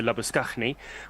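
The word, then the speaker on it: Labuschagne: So at the start of the next over, we assume it's going to be Madhushankar continuing to Labuskaghni, which will answer one of the questions that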